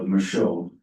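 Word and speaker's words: Michaud: Is it Micho?" It's French. So, Micho.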